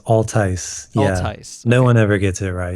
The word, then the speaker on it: Altice: So I'm talking to, how do you pronounce it? Is it Altice? Close. It's Altice. Yeah. Altice.